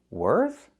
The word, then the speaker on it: worth: When I say worth, I have the TH. I put my tongue out. I make the air sound, no voice.